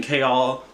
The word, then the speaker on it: Chaol: also confused as to why i need to call this man chao on the pronunciation guide when kale is like right there like it's right there it's right there but the pronunciation guide just be like chao and i don't get